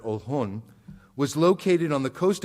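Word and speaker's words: Oljon: The village of Ohlone, O-L-J-O-N is how it's been spelled. In Spanish, we pronounce that Ohlone, was located on the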